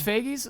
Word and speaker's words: Feige: But they still recovered, and after that, like even with Disney, what's Feige's? How you pronounce it?